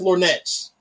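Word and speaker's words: lorgnettes: It's pronounced Lornets.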